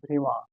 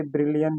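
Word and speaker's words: Brillouin: is second remas okay it's a French name guys okay so the exact pronunciation is brima okay in India we say brillian Zone but that's not correct okay it's brima Zone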